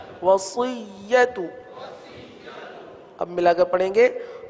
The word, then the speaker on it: وصیت: واو زبر و، صاد یا زیر صی، صی، سی نہیں پڑھیں گے، صی، وصی، یا زبر یا، وصیہ، تا پیش تو، وصیت، وصیت.